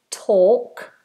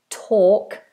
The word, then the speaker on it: talk: with silent letters yes talk talk Noel walk walk no l